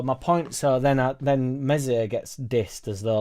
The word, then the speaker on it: Meslier: exactly where you're at melier mesier silent s will do for the